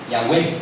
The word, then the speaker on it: Yahweh: eruditos, ¿verdad?, hebraístas, están de acuerdo con la pronunciación original. Era y es, ¿verdad?, Yahweh.